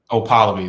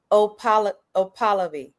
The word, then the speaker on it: Okpalobi: Okpalobi, the K is silent. Okpalobi.